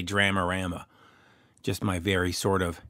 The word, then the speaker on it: Dramarama: joining me on the phone from the band dramarama and we did have a discussion about how to pronounce that with a singer John EES Dale I always say dramarama just my very sort of hick Canadian way